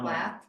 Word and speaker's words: Plath: you don't have the, No, Plath, Plath. what is it? Plath? It's like Sylvia Plath, the author.